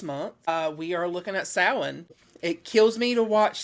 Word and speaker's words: Samhain: and I'm like, it is not Samhain. This is not Sam's Haines. This is Samhain. And I think it's mainly because it's a Celt word.